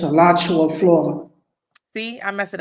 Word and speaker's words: Alachua: it's Alachua, Florida.